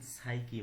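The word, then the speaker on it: psyche: পি এর পরে যদি এস থাকে অর্থাৎ পি আর এস পরপর থাকলে এবং পি এর আগে কোন ভাওয়েল না থাকলে পি এর উচ্চারণ হয় না। যেমন সাইকি মানে আত্মা সাইকো মানে মন সৌরা মানে খোসপাচ্চা।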